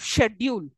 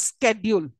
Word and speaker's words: schedule: coming to pronunciation uh most of the British English often pronounce words like schedule with a sure sound okay here it takes up schedule okay for the British English whereas Americans use it as schedule schedule and schedule for American English right uh then here